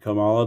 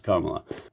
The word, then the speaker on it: Kamala: pence or i like kamala but not biden i'm saying her name wrong it's karma i want the craziest possible